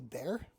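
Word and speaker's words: Bexar: Next up is the Bear. That is how you say it. Um Bear C. It's named after Bear County.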